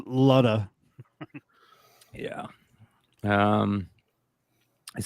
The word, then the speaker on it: Luda: like that brian luda it's pronounced ludda yeah um it says